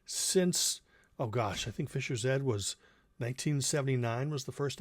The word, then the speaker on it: Fischer-Z: name is actually pronounced Fischer-Z cuz they used the British pronunciation of the letter z zed.